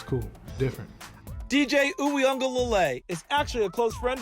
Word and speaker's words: Uiagalelei: Uiagalelei. Uianga. They got like an N, like Uiagalelei. The Wui is the part that a lot of people.